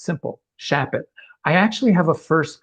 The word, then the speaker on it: Shapot: fernandez or whatever how often are you called my last name is unusual it's a shortened russian name and nobody gets it right the first time but it's simple shap it i actually have a first cousin who's a